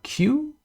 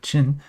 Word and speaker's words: Q: When you see the letter Q, like this, Qin, Q is pronounced like ch in China in Mandarin, so it's like Qin